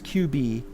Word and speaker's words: Cubyz: You pronounce it as QB.